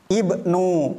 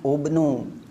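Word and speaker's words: ابن: terjadi pada kalimat ini Ibnu bukan ubnu juga ismuhu bukan usmuhu orang Arab biasanya dibaca ismuhu yang ketiga imruun orang Arab biasanya membaca itu bukan dibaca umruun karena huruf ketiganya u dibaca umruun tidak tapi karena orang Arab biasa ngomong tiga kalimat ini menggunakan kasrah maka ini pun sama diharakati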